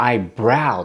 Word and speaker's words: eyebrow: あるんですね確かにアイブロウぷいんでしょですよねあのつづりはでもアイブラウンて発音するんですねーこと